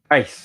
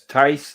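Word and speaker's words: Theiss: So Dice Tice. Dice The is H is correct. silent. It's Tice. The H is silent.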